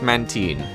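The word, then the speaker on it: Mantyke: a man time all apparently is pronounced man teen I'm going to probably call it man tyne immediately and I'm grateful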